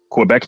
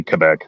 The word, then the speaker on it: Quebec: well yeah you say Quebec you say it like it's a k sound kind of but it's not I say Quebec because when you're talking